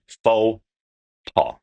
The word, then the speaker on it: faux pas: And when we look at the words and we give it to the English way, it would be faux pas.